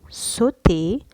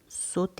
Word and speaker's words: sauter: Sauterelle, sauter, saut et sursauter. نبحث. ماذا نلاحظ؟ نلاحظ أن S-A-U-T, le A-U, ça se prononce O. C'est pour ça qu'on dit saut. Le saut هي القفزة. sauterelle هي الجرادة. sauter هي القفز، هي فعل القفز.